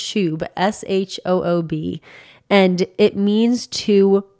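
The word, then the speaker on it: shoob: But yeah, it's just pronounced shub, S-H-O-O-B.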